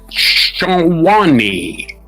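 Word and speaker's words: Tshwane: of human body parts in the city of Shani, that's spelled T S H W A N E.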